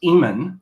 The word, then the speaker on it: Iman: Yeah, so I was schooled in proper pronunciation. It's Iman.